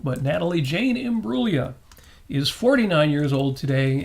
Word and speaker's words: Imbruglia: birthday uh not pronounced Imbruglia the g is silent but Natalie Jane imua is 49 years old